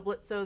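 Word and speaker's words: Blitzø: is it stallis also blitzo the O is silent yeah I mean obviously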